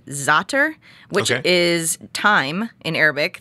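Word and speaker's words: za'atar: people recognize the name zotter which is time in arabic that's what it translates i always say zatar so i'm always saying it wrong yes yeah zater yeah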